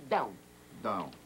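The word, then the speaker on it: Dão: da com tio no e que se pronuncia down down eu fiz um gul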